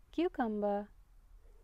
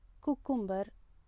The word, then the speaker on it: cucumber: கியூகம்பர், கியூகம்பர், கியூகம்பர்னா வெல்ரிக்கா. I like கியூகம்பர் இன் my salad. N சாலடில் கியூகம்பர் இருந்துச்சுன்னா எனக்கு ரொம்ப பிடிக்கும் அப்படின்னு சொல்கிறோம்ல, அதை குக்கும்பர், கியூகம்பர் அப்படின்னு சொல்லக்கூடாது. கியூகம்பர், கியூகம்பர்.